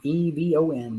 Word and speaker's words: Yvonne: Pronounced Yvonne, Evon.